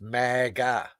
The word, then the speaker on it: MAGA: It's mega mega. Yeah. Let me let me phonetically sound it out for you, Frank. Mega. Mega.